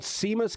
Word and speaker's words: Seamus: By the way, I'm pretty sure this name is pronounced Seamus. Seamus.